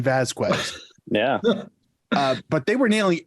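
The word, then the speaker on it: Vásquez: That I didn't even know you actually pronounced the qua in Vasquez.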